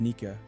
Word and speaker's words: Nike: he encounters the goddess Nike pronounced naika depicted as a headless